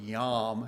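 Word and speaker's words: yom: The word day comes from the Hebrew word yam. If you're going to spell it with in English letters be yo m.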